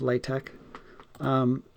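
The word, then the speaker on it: LaTeX: lay tech la te X the X is pronounced like a so it's late tech the so sum underscore means the lower what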